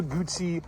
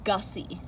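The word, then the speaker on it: Guzzi: The Moto Gucci. Um, it is pronounced Gussy. Oh, that's right. Moto Gussy.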